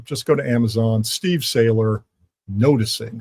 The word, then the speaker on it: Sailer: So just go to Amazon, Steve Saylor, Noticing. Sailor is spelled, by the way, S as in Sam, A-I-L, E as in Edward, R. Not like Popeye the Sailor.